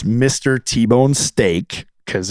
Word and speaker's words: Steeke: T-Bone Steak because it's pronounced like the meat, but it's spelled different.